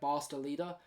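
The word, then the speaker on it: Bas de Leede: I definitely can see things clicking, especially when you've got guys like Barsta Leader. That's the correct pronunciation.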